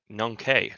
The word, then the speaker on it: Nongkhae: But in terms of Futera today, Nongkhae. All right, that's how we pronounce it.